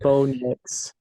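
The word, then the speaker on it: Bo Nix: with you I think B Knicks rhymes with dicks um so he's probably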